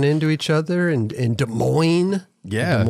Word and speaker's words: Des Moines: each other and and des moines yeah it's been taking me a while not to pronounce the s you know i don't